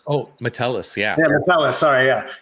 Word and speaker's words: Metellus: Meculus? Oh, Metellus, yeah.